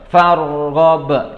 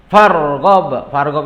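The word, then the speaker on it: فَارْغَبْ: Farghab, ya. Farghab itu ro-nya adalah tebal dibacanya, jangan farghab, jangan. Tapi bacanya wa ila rabbika farghab, ya.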